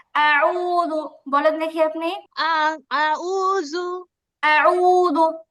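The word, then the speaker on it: أعوذ: জাউ জা- আউযু আপু এটা হচ্ছে দাল জাল, ওই নরম জাল, ঠিক আছে, এটা জিম না, এটা যাও না, জাল পেশ জু, জু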